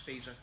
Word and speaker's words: Fico: It's spelt Fico, but it's pronounced Fico.